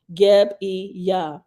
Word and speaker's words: Gebiah: It is pronounced Geb-e-yah.